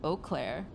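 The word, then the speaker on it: Eau Claire: So, I think I've been mispronouncing. It's Oaklair, Wisconsin. Okay.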